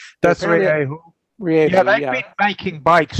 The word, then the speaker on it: Rieju: Okay, if you can't pronounce it, you shouldn't be selling it here. Well, I didn't name the company. It's Rieju. That's Rieju.